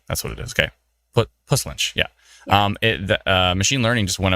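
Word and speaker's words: Puslinch: Push lynch? Push lynch. Like almost like there's an H, right? Like a push lynch. Okay. Plus. Oh, it is. It's push lynch.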